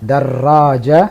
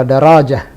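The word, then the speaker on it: دراجة: Darraja pakai tasdid. Jadi tidak benar kalau darajah. Yang benar adalah darraja dan tertulis di situ ada tasdid.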